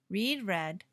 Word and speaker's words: read: Read in the present and read in the past sounds like the color red. Read, read.